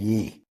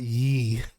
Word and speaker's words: Ye: Trump had dinner at Mar-a-Lago with Nick Fuentes and Yee. Who cares? Okay? And it's Ye, not Yee. If you go talk trash, try to get the name right.